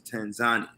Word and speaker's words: Tanzania: A lot of people over here in America call it Tanzania. So yeah. When we got over here, we called it Tanzania as well, but the right way to pronounce it is Tanzania. So Tanzania. So everybody on the call, that is the proper pronunciation for Tanzania is actually Tanzania.